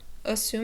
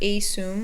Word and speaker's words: assume: The first one is that the first syllable is a schwa, so it makes an sound. So we can say assume, not a-soom or anything like that.